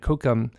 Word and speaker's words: kókum: So to recap, those four words are Nukomis for my uncle, Nusissum is my grandchild, Nukum is my grandmother, and Kukum is grandmother.